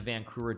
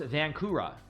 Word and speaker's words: Vancura: me by playing the vancura defense in our game in the Isle of, or not Isle of Man, sorry, in Gibraltar some years back. I'm saying it wrong. No, it's vancura. Vancura, V-A-N-C-U-R-A.